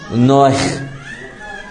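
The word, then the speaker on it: נח: Pero la H, al darle un sonido grutural, pronunciaría más o menos como Noach o Noach.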